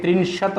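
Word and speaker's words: त्रिंशत्: इसका उच्चारण देखें, त्रिंशत बोलते हैं इसको, क्योंकि त जो है हलंत है, और हलंत वाले जितने भी वर्ण होते हैं ना, उनको बेटा एकदम से ख़त्म करना होता है, एक त्रिंशत बोलेंगे।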